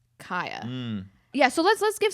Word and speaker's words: Khia: And I think I I you're right that their name is pronounced Kia. Yeah, so let's let's give some background. The Kia Asylum, I'm going to say Kia, I'm sorry everybody.